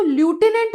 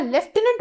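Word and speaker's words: lieutenant: अब बहुत से लोग ना इसको ल्यूटिनेंट बोलते हैं, जो कि करेक्ट प्रोनाउंसिएशन नहीं है। मतलब मैंने जितना सर्च किया, मैंने जितना इसका प्रोनाउंसिएशन देखा, लेफ्टिनेंट बोला जाता है, फ की साउंड आती है, ल्यूटिनेंट इज the wrong pronunciation.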